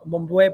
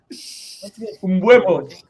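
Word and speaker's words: Mbeumo: And one individual player, his name starts with M, Mombuebo or something like that.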